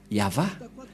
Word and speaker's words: Yahvah: Mais en lecture normale, on le lit Yahva.